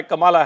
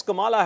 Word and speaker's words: Kamala: My name is pronounced as Kamala Harris, not Kamala Harris. It's Kamala Harris. That's the claim which is being made by Kamala Harris.